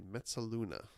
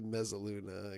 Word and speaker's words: mezzaluna: Yeah, nice Italian pronunciation. I was hoping no one would notice that. Yeah, probably Mezzaluna, I guess, is what is really might be a better pronunciation. No, Ursula, that was right the first time.